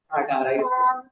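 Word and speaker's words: 四: এই শুধুমাত্র হচ্ছে যে চার যেটা, হ্যাঁ, চারের চাইনিজটা এটা হবে যে ফলিং টোনে সি, সি।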